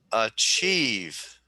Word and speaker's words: achieve: Okay, so there are two syllables, right? There are two syllables. And where is the emphasis? Do I say achieve or do I say achieve? So you're right. The accent is on the second syllable.